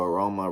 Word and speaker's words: aroma: And so aroma rhymes with Tacoma.